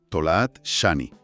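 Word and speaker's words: Tola'at Shani: Hay que hacer una pequeña pausa glotal en el medio de la primera palabra. Tolaat sanhani. Ah, entiendo la pausa. Tolaat Shani. Eso es.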